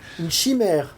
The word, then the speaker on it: chimère: Chimera. Chimère in French. Oh, there we go. Perfect. Chimère.